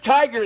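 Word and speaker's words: Tigar: I'm not sure how to pronounce it, but No, it's Tiger.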